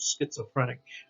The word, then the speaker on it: schizophrenic: sound okay schizophrenic schizophrenic okay s c h schizophrenic uh people have the